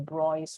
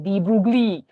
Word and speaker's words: de Broglie: so this lambda is known as the brois wave i know the malaysia we want to pronounce all the vowels so we want to de-broglie but it's so this